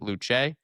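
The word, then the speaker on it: Luce: I believe you pronounce it Luche. Uh, L U C E.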